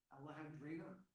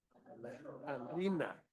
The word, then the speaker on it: Alejandrina: Alejandrina. Alejandrina? Yeah, like Alejandra, but little. Alejandrina.